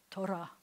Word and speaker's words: Torah: So if you were going to say like Torah, it would have to be gently trilled, almost like Spanish. But no Israeli I know will say it like that. Most of the time, they'll say it way back here like this, Torah, America.